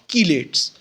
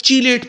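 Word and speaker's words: chelate: ये जो लफ्ज़ है इसकी प्रोनाउंसिएशन लोग चीलेट पढ़ते हैं, कुछ लोग इसको कुछ और पढ़ते हैं। तो इसकी जो करेक्ट प्रोनाउंसिएशन है प्लीज़ नोट कीजिएगा, वो होती है कीलेट।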